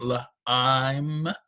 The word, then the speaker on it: lime: It has the I that says its name, lime, and the E does not make a sound.